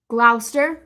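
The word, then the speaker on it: Gloucester: Glouster, right? Worester. Worester. Well, you guys would say Worester because you guys don't really pronounce the R.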